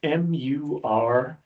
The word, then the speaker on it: Murimi: I couldn't figure out what you were saying exactly or how to spell it, so I guessed. So it's Murimi.